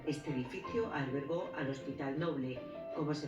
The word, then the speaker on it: Noble: de un siglo este edificio albergó al hospital noble como se pronuncia en español el apellido Nobel el hospital